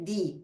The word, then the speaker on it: the: Remember that the other day we were talking about this, that when the article de is before a word that begins with a vowel, instead of de, we say di.